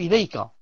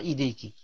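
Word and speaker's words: إليكَ: Donc, pour l'homme, on dit Ahsanallahu ilayka, ilayka, pas ilayki.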